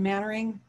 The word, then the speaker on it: Mainwaring: You probably are familiar with Simon Mannering. Mainwaring is how it's spelled.